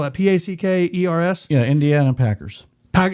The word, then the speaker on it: Packers: do you spell that p-a-c-k e-r-s yeah indiana packers pack it's not packards it's packers packers okay and like you're